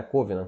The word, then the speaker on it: covenant: Covenant, que eu acho que fala em pronúncia mais correta em inglês.